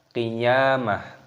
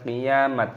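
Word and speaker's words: القيامة: Apabila kita waqaf berhenti, maka tak marbutah ini kita matikan dan diganti dengan huruf ha, maka dibaca qiyamah bukan qiyamat. Nah, itu salah.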